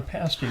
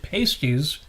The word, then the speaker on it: pasty: Is a calzone a pasty? So there you go. Incidentally, when I was young, because of the way it's spelled, I always pronounced it pasties.